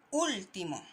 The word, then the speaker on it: último: Tiene dos sílabas después que no tienen acentuación. Y último, ¿ya?